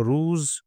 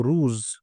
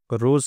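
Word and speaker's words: روز: सकते हैं कि शबो रूज ये फारसी में मैं प्रोनाउंसिएशन कर रहा हूं जरा ध्यान से ताकि आप उसको याद कर लें। शबो रूज रोज कहते हैं उर्दू में। फारसी में कहेंगे रूज शब रूज रफ्तन दून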